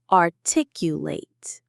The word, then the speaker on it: articulate: as a verb, an action word, the ending sounds like the word late. Articulate. Artic you late. The stress is in the same place, but the ending is sharper. Articulate. It's a very small difference, but an important one.